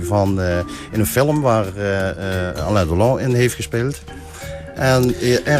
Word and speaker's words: Alain Delon: in een film waar Alain Delon in heeft gespeeld. En We zitten in de dag van de uitspraak. Alain Delon, in het Engels is Alan Delon.